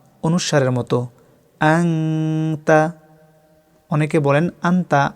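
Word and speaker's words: أنت: আনতা। নুন সাকিনের ইকফা বাংলায় অনুসারের মতো। আনতা। অনেকে বলেন আন্তা। আন্তা বললে ভুল হবে, সঠিক উচ্চারণ আনতা।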